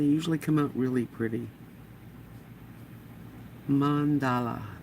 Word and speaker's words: mandala: Mandala. That's how you pronounce it. Mandala. I say it wrong a lot, so forgive me.